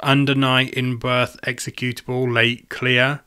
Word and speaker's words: Under Night In-Birth Exe:Late[cl-r]: The latest version, which I think is pronounced Under Night in Birth Executable Late Clear, is available on Switch, PS4 and PC.